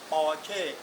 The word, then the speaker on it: Porsche: r c h e German เขา ออก เสียง สั้น ๆ ว่า ประมาณ นี้ ปอร์เช่ ไป เลย ก็ แล้ว กัน ประมาณ